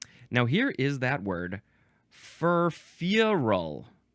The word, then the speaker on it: furfural: Now here is that word, furfural. You got to emphasize the first syllable and then a little bit the last syllable.